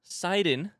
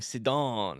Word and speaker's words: Sidon: our good friend Poseidon the comments have told me that that's how you pronounce it seiden uh uh sorry for making your ears hurt by saying sidon I wanted it to